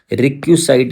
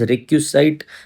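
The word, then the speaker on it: requisite: ठीक है, जिसे हम रिक्यूसाइट भी बोलते हैं, REQUISIT। रिक्यूसाइट क्या होता है? जो चीज़ें बहुत ज़्यादा नेसेसरी। एक जॉब के लिए आपके पास रिक्यूसिट इज करेक्ट प्रोनाउंसिएशन।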